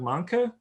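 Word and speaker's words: Mahnke: Doug, I want to say Doug Manka is how you say his name.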